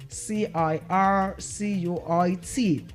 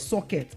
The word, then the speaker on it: circuit: Now we said that word is not is not what? Socket. It is not socket but what? Circuit. It is what? Circuit.